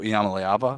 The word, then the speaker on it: Iamaleava: And so I am a believer in Nico Iamaleava, still crushing the pronunciation of that one.